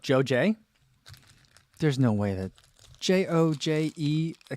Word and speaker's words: JoJe: i looked up on the website and it's pronounced joe j there's no way that j-o-j-e accent is pronounced